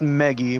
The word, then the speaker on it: Maggie: It's pronounced Meggie, but it's spelled Maggie.